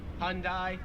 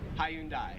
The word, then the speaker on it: Hyundai: both say it wrong pronounce it as hyundai americans make it like two syllables like hyundai australians three syllables hyundai now 40 and 41